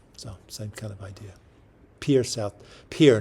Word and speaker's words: Pierre: Pierre, not Pierre, I guess, even though it's spelled that way.